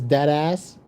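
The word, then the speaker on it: Dattaz: Um, the name of my business is Dead Ass, but it's spelled D A T T A Z.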